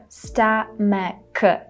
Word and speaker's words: stomach: And obviously the last part of the word should be pronounced as k, stomach.